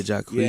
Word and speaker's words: Jacquees: Yeah, Jacquees. Yeah. He's pretty good. I'm not mad at that pronunciation.